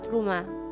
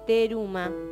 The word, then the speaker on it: Teruma: capítulo 27 versículo 19, que se llama Truma, o como se escribe, Teruma, ¿sí?